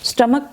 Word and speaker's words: stomach: स्टमक pain के spelling आप check कर लें, STOMACH, स्टमक, CH को यहाँ पे K की साउंड आएगी, स्टमक पेन।